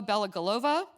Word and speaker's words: Belogolova: Olga Bell galova um I actually never announced I asked you how to pronounce your last name but I since yes as you know I speak Russian I just pronounced it the Russian way um was director for